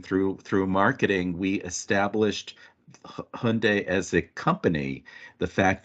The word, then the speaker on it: Hyundai: it in the UK where you say Hyundai in the UK everyone called it highendai.